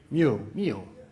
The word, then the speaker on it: mu: What's the proper English pronunciation? Mu.